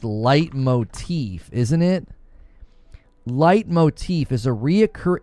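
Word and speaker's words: leitmotif: Light motif. Okay, so it's pronounced light motif.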